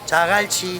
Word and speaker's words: Jagalchi: Jagalchi. Jagalchi. Okay, thank you so much. Jagalchi.